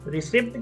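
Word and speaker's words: receipt: हो सकती है इस रिसीप्ट के वर्ड के अंदर पी साइलेंट तो स्पेलिंग में जरूर लिखेंगे लेकिन आप इसको बोलेंगे नहीं पी साइलेंट रखिएगा आप इसको बोलेंगे रिसीप्ट क्या बोलेंगे रिसीप्ट अब सर रिसीप्ट का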